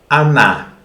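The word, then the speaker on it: она: it very much so anna even if it is written hona as you know are being stressed or is pronounced like a okay so how do you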